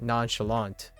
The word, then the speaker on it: nonchalant: But I say nonchalant with the T, right? So these words are they're loaned at one point, but now they are permanent, as in the saying, like the way to pronounce this word, nonchalant, the American version of nonchalant does not have a